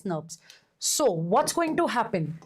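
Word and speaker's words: snRNP: ribboucle proteins and these are pronounced used as snurps. Okay, not snips. You call them as snubs. Small nuclear ribboucle proteins pronounced as snurps.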